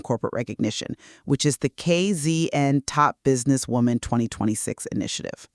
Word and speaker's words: KZN: For our global listeners, that acronym is KZN, and because this initiative is fiercely, unapologetically South African in its DNA, you pronounce it with a proud, definitive Z. Oh, absolutely. If you say KZN like some American sitcom,